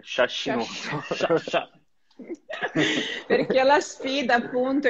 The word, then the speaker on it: sciascinoso: No, devi dire in romagnolo. Sciascinoso. Sciascinoso. Sciascinoso, ottima pronuncia. Hai capito? La pronuncia romagnola.